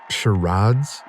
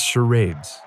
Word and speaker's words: charades: Shiraads? It's charades.